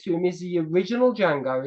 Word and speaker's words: Django: and he spells it the D is silent that is actually yes